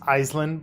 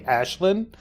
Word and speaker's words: Ashlynn: believe her name is we mispronounced it as Iceland but I think Thailand corrected me and said it's actually ashlynn I like your acting